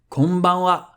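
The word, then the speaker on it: こんばんは: If you want to say good evening, that'll be konbanwa, konbanwa, konbanwa. Same thing here, ha is read wa for exactly the same reason, because the original sentence was konbanwa gokigen ikaga desu ka?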